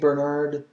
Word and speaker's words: Bernard: And Bernard is pronounced Bernard, le Saint Bernard, le Saint Ber, again rolling the R, Nard, Bernard, le Saint Bernard, le Saint Bernard.